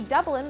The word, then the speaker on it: Dublin: But good news, we do pronounce the city Dublin the same as the people in Ireland.